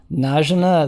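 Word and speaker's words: Najena: So before we move on from EQ, what's the proper pronunciation for Basgrim's sake of Najina? Najina, there you go.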